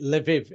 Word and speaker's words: Lviv: I've got friends in, I pronounce it Lviv in the west.